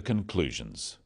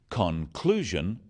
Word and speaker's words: conclusion: The wrong stress makes it hard to understand. So, conclusion, not conclusion. Products, not products. Even more important in speaking is to stress the important words in a sentence.